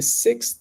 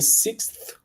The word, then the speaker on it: sixth: sixth time I've tried see it's different if I try to say with a th which makes it a little bit more slower in a sentence if I say it like this if I try to pronounce letter by letter it's going to be like this this is the sixth the sixth time sixth time doesn't go